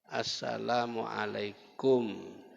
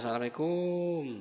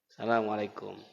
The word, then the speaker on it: Assalamualaikum: Itu pun Assalamualaikum itu banyak salah Pak bacanya. Kumnya itu pendek. Kap mim mati depan kum. Assalamualaikum. Yang banyak di tengah lapangan apa? Assalamualaikum. Nah, kumnya panjang. Yang benar kumnya pendek. Assalamualaikum.